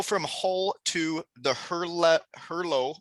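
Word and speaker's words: Herlev: hull to the hurlett herlow i think is how they say it but it's her love eagles which that's in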